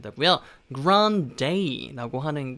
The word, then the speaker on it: Grande: 아리아나를 조금 그 R 발음을 살려서 Ariana 라고 발음을 하고요, 뒤에 이 발음, 뒤에 커피컵 종류인 Grande 라고 발음합니다. Grande 라고 하시면 안 되고요, Grande 라고 하는 게 원래 제대로 된 발음입니다.